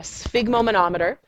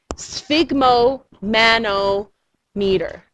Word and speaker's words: sphygmomanometer: name of the tool it is called a sphygmoma no meter a sphygmomanometer it's most commonly called a blood pressure cuff but that is the technical name sphygmomanometer sphygmomanometer and that's the name of the tool